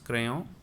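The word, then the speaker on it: crayons: this word that becomes crayon the pronunciation will sound as it is in singular but only differences in written form we should write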